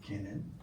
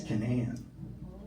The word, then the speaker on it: Kinnan: So, growing up, I always pronounced it can. But it's Cananan.